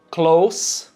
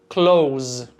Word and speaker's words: close: Temos também mesma escrita, mas pronúncia levemente diferente em close, close. Essa diferença é bem sutil, seu ouvido pegou? Vamos mais uma vez. Close, close, close, com som de S no final. Close significa perto ou próximo.